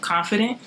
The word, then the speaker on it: KONFIIDENT: This is your girl, and we are here live with the Canadian artist KONFIIDENT.